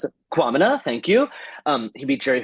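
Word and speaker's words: Kwamina: I actually don't Quamina. know how to pronounce it. Quamina, thank you.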